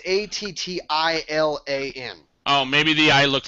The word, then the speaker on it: Attilan: head, the first thing, I don't know if I'm pronouncing it correctly, but it's Atlan, I think is how it's pronounced. It's Attlan, so I think it's Atlan. Yeah. No, I went to the wiki site earlier today, and it's Attilan.